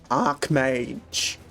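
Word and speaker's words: Archmage: whole thing about uh Ark Mage it's not Arch it's Ark the H is silent it's the same as Archangel H don't worry your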